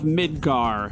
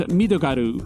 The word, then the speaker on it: Midgar: and picturesque city of midgar and yes that is the Canon pronunciation in Japanese midogaru and after doing a